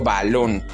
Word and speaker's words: balón: Su fuerza de voz en es en lon, porque yo digo balón. Si la llevara en va, entonces yo diría balón, pero no es así. Suena muy raro, ¿no? Evidentemente esa no es la pronunciación correcta, certificando que la palabra lleva la fuerza de voz en la sílaba lon, es decir, en la última sílaba.